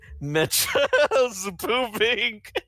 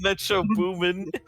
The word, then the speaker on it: Metro Boomin: My favorite one being Metro's booming instead of Metro booming.